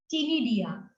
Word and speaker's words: ctenidia: These gills are called ctenidia. Spelling again, I must say. So C is silent over here.